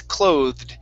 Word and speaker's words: clothed: Instead of clothed, it's clothed. The e is silent.